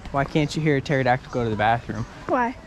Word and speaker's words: pterodactyl: can't you hear a pterodactyl go to the bathroom why because the pee is silent I didn't realize and